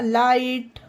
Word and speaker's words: light: लाइट, LIGHT यानी कि GH एक साथ आया है तो आई उच्चारण होगा, लाइट।